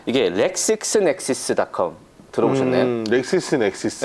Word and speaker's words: LexisNexis: 렉시스 넥시스.